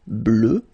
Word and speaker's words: bleue: Phonetically it doesn't exist because you don't pronounce it, so you get bleu as you would get for the masculine form, okay?